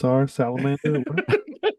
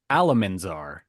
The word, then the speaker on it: Alamanzar: Well, let's check on Salamander. It's okay, Oliver, because I said it wrong. It was actually Alamanzar.